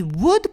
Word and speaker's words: would: 이 would 발음하실 때요. 물론 책으로 배우신 영어라서 would 이렇게 발음하시는 분들이 있어요. W를 반드시 발음해 주셔야 됩니다.